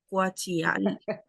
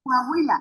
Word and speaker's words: Coahuila: Ahí me vas a ayudar cómo se pronuncia, perdón por la ignorancia. Cuachial, Guajiala, Guajiala, ¿puede ser? De México. ¿Cuánto que- Ahí en el chat que- puedes fijarte. En- Ah, Coahuila.